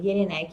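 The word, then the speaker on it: Jellinek: Jelinek, se pronuncia Jelinek, mas se escreve Jelinek com 2 L's e CK no final, Jelinek, tá?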